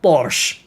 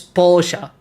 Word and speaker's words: Porsche: Okay, that's a good point, because I don't think they know it's not Porsche, but it's Porsche. Porsche, right? Porsche! So, if we follow the proper pronunciation, should be like...